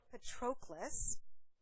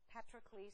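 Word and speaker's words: Patroclus: a um relief drawing called the funeral of Petras petres or Petras is a figure of the Trojan War and it's spelled p is in Paul a t r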